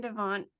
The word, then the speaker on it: Devant: that um and Adrian Devon did I say your name wrong because it's like that's that's correct okay and Adrian Devon